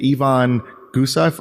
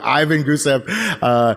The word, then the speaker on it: Ivan Gusev: was actually purchased and someone named Yvonne gusoff or you know even who said I'm saying it wrong sir Ivan Mikey I keep saying it wrong Ivan Gusev you know left his